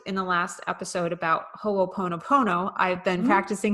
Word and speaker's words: ho'oponopono: and we talked in the last episode about ho'oponopono i've been practicing how to say it so